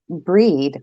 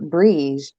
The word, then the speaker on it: Brigid: They said it's pronounced breed or brige.